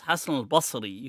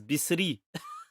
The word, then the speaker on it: Hassan al-Basri: How can anybody go through an entire madrasa system, learn 8 years of Islam, and then pronounce Hassan al-Basri, who's from Basra, as Bisri?